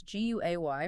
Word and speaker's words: Guay: Remember that's gu a y pronounced guay.